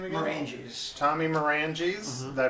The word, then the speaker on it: Maranges: creators Tommy Tommy what's your last name again manges Tommy manges did I pronounce that correctly you did all righta did